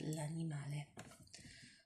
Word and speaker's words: l'animale: to say the animal, you would say l'animale. You put an L apostrophe in front of it and pronounce it as if it's one word together, not l'animale, but l'animale. Okay.